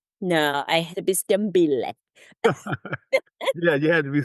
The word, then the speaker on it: Stembile: So it's pronounced Stembile, which means there are many silent letters in there. So it's Stembile, Stembile, Okay.